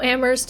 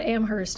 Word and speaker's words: Amherst: Toronto Toronto it's like how ammer is not Amherst it's ammer do you want to